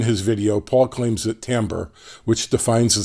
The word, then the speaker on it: timbre: common test equipment by the way Paul it's pronounced Tambor not timbre so these claims are what Paul believes or